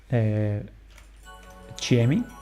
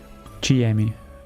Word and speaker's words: Tiemi: No, okay, so her name is Chiemi. It's written Tiemi because in Brazil the T is said as Chi. The T is pronounced as Chi.